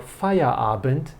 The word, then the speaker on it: Feierabend: Okay, so as soon as you have finished your work, then your Feierabend begins.